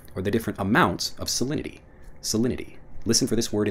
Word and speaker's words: salinity: of the conversation next salinity salinity when I'm pronouncing it fast salinity even though again we have that T sound salinity becomes solidity when we're pronouncing it quickly what's the salinity of